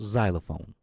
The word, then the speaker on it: xylophone: Now, the word xylophone has an X at the beginning, so you pronounce it with a Z sound, xylophone.